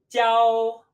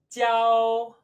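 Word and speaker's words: 交: Now our next set of characters are all fundamented on this piece here, pronounced 教. 教. 教, just like instruct.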